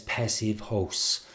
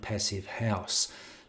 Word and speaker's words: Passivhaus: not the same as passive host or passive house as sometimes people pronounce it. I'd prefer the German one to differentiate it more.